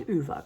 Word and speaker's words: Ove: man called um UA um some people don't pronounce it UA but it's UA cuz that's all the movie look at amazing